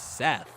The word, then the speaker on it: Seth: told me to uh think about pronouncing it with saying it's like methamphetamines but it's not it's seth i'll never forget that